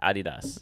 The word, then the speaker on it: adidas: they call it yeah yeah yeah it's actually pronounced adidas okay and uh reebok i don't know no